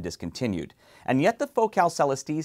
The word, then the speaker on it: Celestee: the focal celesti now that's how i'm going to pronounce it celesti even though i know my friends from focal in france will pronounce it much more elegantly and with proper french flair the last time i